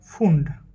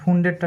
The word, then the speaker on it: Pfund: এবার আরেকটা বিজ্ঞানী দেখব, সেটা হচ্ছে কি ফুন্ড। তো ফুন্ড বানানটা হচ্ছে যে একটু মজার, হ্যাঁ, PFUND, ফুন্ড, এরকম ফুন্ড সিরিজ। AFUND হলে ঠিক ছিল, কিন্তু পি ওনার নামের সামনে একটা আছে।